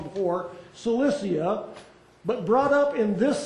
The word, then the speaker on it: Cilicia: Cilicia.